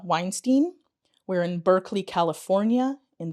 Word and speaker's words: Weinstein: I'm here with Weinstein.